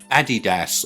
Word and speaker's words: Adidas: These ones are actually made by Adidas or Adidas, however you're supposed to pronounce it.